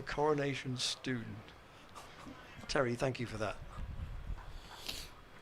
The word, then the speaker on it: Coronation Stone: It should be pronounced as a Coronation Stoon.